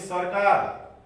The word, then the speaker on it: सरकार: अनि सरकार हामीले सरकार भनिदैन, सरकार भनिन्छ। नेपाल सरकार भन्दा सरकार र जहिले पनि आधा उच्चारण हुन्छ।